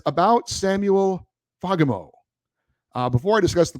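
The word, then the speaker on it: Fagemo: it that it's pronounced fogamo with the accent on the first syllable the a is pronounced like an o in the words jolly and Folly a Swedish person with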